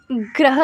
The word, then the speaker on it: गृह: गृह ज्योति, ग्रह लक्ष्मी, देखो यहाँ पे जो है इन्होंने ग्रह के GRUHA स्पेलिंग दिए हुए हैं, बट इसको हम बोलते